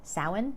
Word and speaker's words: Samhain: year was marked with a festival called Sawan which you might have heard of it's spelled Samhain because of course it is the thing about